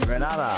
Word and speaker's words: Grenada: I'm from the beautiful island of Grenada, Grenada. So, today, like we Germans say, we are in Grenada. But I heard in English it's called Grenada.